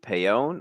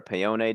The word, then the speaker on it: Paone: This is the Public Intel Report writer and photographer Paone, or Paone, depending on how much Italian you may speak.